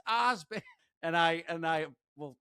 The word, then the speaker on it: Osband: it's no or she'll pronounce my last name Oban wrong and he'll be like it's Ozban.